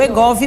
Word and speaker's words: Wegovy: e adolescentes é o egov ou Veg é o egov mesmo né a pronúncia então Doutora Sarita Fala